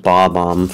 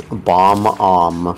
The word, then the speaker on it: Bob-omb: There is an epidemic of people who read it and pronounced it as Bomb-omb for most of their life.